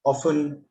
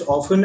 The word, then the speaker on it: often: Often again has two accepted pronunciations. One is often and the other is often.